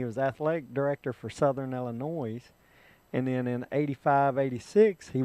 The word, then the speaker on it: Illinois: It is Illinois. The S is silent. They don't use the S.